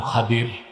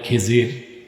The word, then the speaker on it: খাদির: আমার এক নেককার বান্দা তার নাম খাদির যারে আপনারা বলেন খিজির উচ্চারণটা কির বিফাতলখাদ খদির আমাদের দেশের লোক বলে কি খিজির এটা মূল উচ্চারণ শুদ্ধ উচ্চারণ কির মুসা নবী বলছেন আল্লাহ